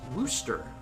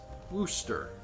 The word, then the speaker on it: Worcester: It's actually pronounced Worcester. Hi, Kippy. The R, C, and E are silent, and a magic O takes their place. Hence, Worcester.